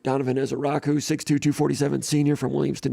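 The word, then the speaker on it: Ezeiruaku: It's pronounced Ezaraku, Donovan Ezaraku, 6'2", 247 senior from Williamston, New Jersey.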